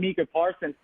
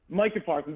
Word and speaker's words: Micah Parsons: Mark, that's just not how you say his name. Micah Parsons.